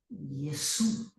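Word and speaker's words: Ἰησοῦ: Por lo tanto, se pronuncia Yesu.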